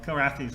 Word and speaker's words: Kilrathi: Well, Kilrathis are like kill, they kill and they have lots of wrath. So that's why it's Kilrathi. And it was actually a temp name and then it sort of stuck.